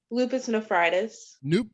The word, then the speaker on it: lupus nephritis: And how do you pronounce that again? Lupus nephritis.